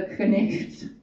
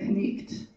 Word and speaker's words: knight: But no, I'm going for the knicht. That is the knight, pronounced in Middle English when you pronounce the K and the GHT, right? The knicht.